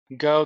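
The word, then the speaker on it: Geaux: If you don't, but Go Ducks or Geox or however you spell it. But I know how to say the word, but G-A-U-X Ducks. Yeah, I know it's Go.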